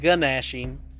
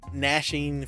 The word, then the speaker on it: gnashing: uh gnashing bangs or because it's not gnashing so i think the g is silent gnashing fangs uh tax one enemy